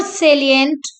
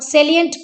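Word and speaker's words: salient: which action is more सलिंट देखिए सलिंट है ये साइलेंट नहीं है ध्यान रखेंगे साइलेंट मोन होता है चुप होता है और सेलियंट प्रमुख होता है सेलियंट देन कैरेक्ट इजेशन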